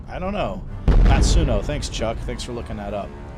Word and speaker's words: Matsuno: I think his name is Matsuno.